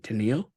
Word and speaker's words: Teneil: Is it Teneil? Is that how you say it? Teneil, yeah, Teneil? Teneil.